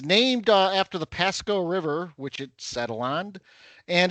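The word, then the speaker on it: Pascoag: It's spelled P A S C O A A G. So, it looks like Pasco Cog, but I believe it's Pasco like Bear Pasco, the former tight end of the Giants.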